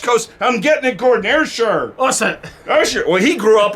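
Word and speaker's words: Ayrshire: still on the arshar how do you say that Isha Asher air sure coaster Scotland which is on the west coast I'm getting it Gordon air sure awesome well he grew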